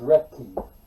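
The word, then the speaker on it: Roethke: Berryman, Lowell, and Theodore Rothke, if you got him up there. It's pronounced Retke, Is it? Rothke. or I guess in German it'd be Retke.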